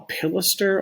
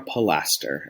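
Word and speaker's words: pilaster: you're looking at is called a pilister or a plaster and i'm gonna go back and forth between the pronunciations because i can't make up my mind which i like to say better a pilister is a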